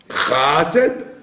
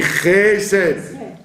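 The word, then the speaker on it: חֶסֶד: Chased, on dit Chesed.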